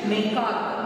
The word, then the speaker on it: macaque: What is the pronunciation? Macaque.